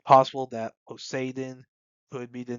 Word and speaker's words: Poseidon: for Mermaid Princess is Poseidon, which that's how they pronounce it in Japanese within One Piece. I know in English we would say Poseidon, but well, at least I mean I haven't watched the dub.